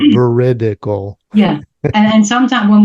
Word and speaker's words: Veridical: You'd be amazed how many people forget those little eyes in there. But, uh, you won that game. I had to say it slow. Veridical.